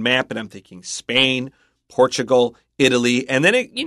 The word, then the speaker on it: Portugal: but watch out for Portugal Chris pronounce the L but when I learned it as a kid it was just an o sound Portugal interesting Portugal have you